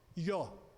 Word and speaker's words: Jó: Essa palavra, essa letra I, em hebraico, ela se atrela ao J. Por exemplo, Javé se pronuncia Iavé. Então, como Jó, Ió.